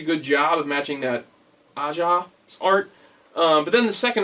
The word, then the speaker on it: Aja: the art is by i think it's pronounced asha it's aja that's something aja's aj's